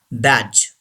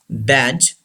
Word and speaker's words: badge: बैज. से this word बैज. डी इज not pronounced. D is silent.